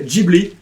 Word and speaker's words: Ghibli: Ouais, mais bon, Ghibli qui d'ailleurs devrait être, fun fact, il devrait être prononcé Ghibli.